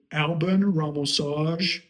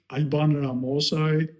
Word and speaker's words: Alban Ramosaj: Listen, Alban Ramosaj, Alban Ramosaj. I would say my name is Alban Ramosaj, but I also understand that people are going to butcher it, so I'm fine with Alban Ramosaj.